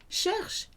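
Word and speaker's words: cherchent: And the last one, il, elle, on, sounds like the first three, cherche, but spelt with that silly, silent ENT.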